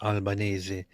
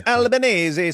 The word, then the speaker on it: Albanese: Oh, it's it's an Italian name that is Albanesei. It's Albanesei.